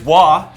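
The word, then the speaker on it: Waaagh: Rule for Orcs so Army Special Rule is wah as if it was going to be anything else now don't do that don't do that don't pronounce the G and let's see what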